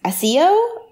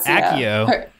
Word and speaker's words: Accio: need your help because I read the books a CEO or a CEO a CEO a CEO I think yeah they pronounce it Accio in the mood we said Akio heart Z